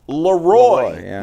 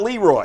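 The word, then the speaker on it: Le Roy: It's spelled Leroy, but it's pronounced Leroy, not Leroy.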